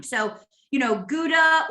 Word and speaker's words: gouda: rhyme so you know gouda or sometimes it's pronounced gouda if you know you have a dutch person which is where this cheese comes from um it tends to